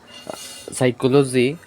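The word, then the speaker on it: psychology: যেমন টক ক্লাম হাল silent P পিএস বা পিএন এর শুরুতে পি অনুষ্ঠিত থাকে যেমন সাইকোলজি এমন এই হচ্ছে আজকে আমাদের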